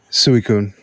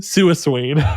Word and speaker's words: Suicune: but Rapidash just feels right in my head suicune suicune really yeah have ever told you that